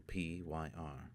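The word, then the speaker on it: PyrE: no good it will to dagenham py capital P yr capital e pronounced py as in funeral py tell dagenham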